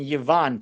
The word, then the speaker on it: Ivan: It's hard to tell just from reading, but Ivan Petrov is saying, I pronounce in Yvan, Tak. I am Bulgarian, Pete. So maybe for Bulgarians, it's Yvan.